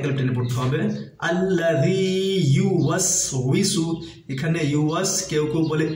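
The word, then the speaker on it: يُوَسْوِسُ: টানে পড়তে হবে আল্লা ইউসু এখানে ইউস কেউ কেউ বলে ইসু কেউ কেউ বলে ভিসু এটা আমরা খেয়াল রাখব ওটা উচ্চারণ করতে হবে ঠোট গোল করে ও সেই হিসেবে আমরা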